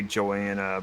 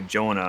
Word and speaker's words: Joana: say my name and I decided to say Jonah and the reason why is because I well I'm a dude playing a female character and Joanna sounds more feminine while Jonah sounds less